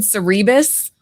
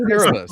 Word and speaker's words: Cerebus: I said Cerebus and he said Cerebus.